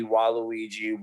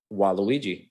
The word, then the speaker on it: Waluigi: So he does Luigi, Waluigi, Wario, Mario.